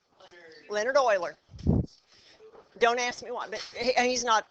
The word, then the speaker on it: Euler: it his first name is Leonard but it's pronounced Euler Leonard Euler don't ask me why and he's not he's